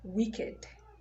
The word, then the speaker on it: wicked: look at this word it ends with ked but it is pronounced as naked naked and then you have this one also which is also another exception wicked wicked so guys i'm going